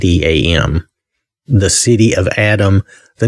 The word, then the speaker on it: Adam: Now that could be that it's pronounced Adam, but it's Adam.